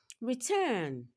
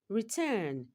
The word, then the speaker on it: return: Return. Return. Turn is a second syllable and it takes the stress.